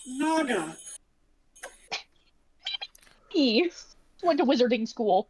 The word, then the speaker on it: Naga: And I think it's pronounced Naga.